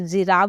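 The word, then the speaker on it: giraffe: पढ़ूंगी magic वैसे ही जिराफ जिराफ लिखा है जी से स्टार्ट हो रहा है लेकिन उसके बाद क्या आ रहा है आई का यूज हो रहा है और मैंने कहा था ना जी के बाद अगर आई का यूज हो तो वहां पर प्रोनंसिएशन क्या निकल कर आएगा जो आएगा तो जिराफ बोलते हैं हम उे ओके अब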